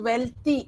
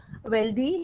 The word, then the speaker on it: wealthy: See that this word well, this is not pronounced wealthy. Okay, I've heard many students pronounce this wealthy, healthy. That's a wrong pronunciation. The correct way to pronounce these words are wealthy, healthy. Th is a theta.